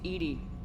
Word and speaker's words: EDI: why are you named Edie Ed is the phonetic pronunciation of Eed that is an acronym